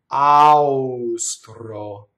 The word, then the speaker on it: austro: Austro, right? It doesn't rhyme with it.